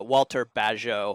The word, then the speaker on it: Bagehot: He talks a lot about this guy named Walter Bagehot, I think is how his name is pronounced.